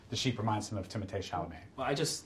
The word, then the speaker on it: Timothée Chalamet: Not Timothée Chalamet, Timothée Chalamet. It's pronounced Timothée.